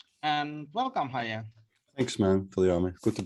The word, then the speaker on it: Hajee: Well, I'm Hajee. So you pronounced it well, Viami.